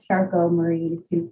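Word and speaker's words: Charcot-Marie-Tooth: my name is it's pronounced charcoal murray two syndrome french doctors that discovered it um but yeah thank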